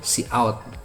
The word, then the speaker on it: cout: Atau cout. Ini bukan code tapi cout ya.